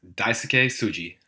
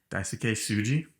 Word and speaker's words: Daisuke Tsuji: Is Daisuke Tsuji. Daisuke Tsuji.